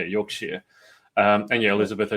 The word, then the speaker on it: Yorkshire: So they've been Oh, Yorkshire. Yeah. Sorry, Cla has pulled me up on the pronunciation of there's a lot of UK names that I Yeah, Yorkshshire. It's It is spelled in my defense Yorkshshire, but yeah, Yorkshire.